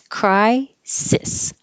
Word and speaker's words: crisis: It looks like both of these S's should sound like Z's because they're between or they follow a voiced sound, but it's not. It's crisis.